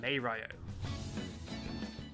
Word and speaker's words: Mario: plumber that everybody knows some say his name is mario others would say mario of course the actual pronunciation is maeryo a lot of the